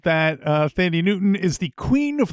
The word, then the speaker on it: Thandie: I think now we're saying Thandie. I believe it's pronounced Tandy most of the time because it's that.